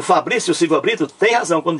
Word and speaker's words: Fabrício: também leva acento agudo ou seja o o Fabrício Silva Brito tem razão quando diz ó não é a mesma regra para as duas formas claro que é Fabrício vocês TM razão parabéns então a mesma regra